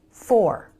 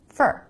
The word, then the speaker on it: for: let's take for example this word for fully pronounced it's for but most of the time in a sentence americans pronounce it fur really fast with the reduced vowel for fur so if you're expecting to hear four fully pronounced and clear then you're never going to hear fur this is for the